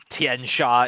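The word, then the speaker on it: Tian Xia: It's it's why I now know that Tien Sha is pronounced that way because their source books like this is how you pronounce it.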